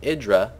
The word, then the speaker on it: IdrA: It's going to be Idra or Idra. Actually, we have confirmed that is pronounced Idra against Maro the Tan player.